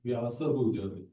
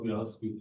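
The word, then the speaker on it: Vyāsa: Also, Prabhu, Vyas, it's Vyasa Puja. It's not Vyas Puja. Yeah, it's Vyasa Puja, yes.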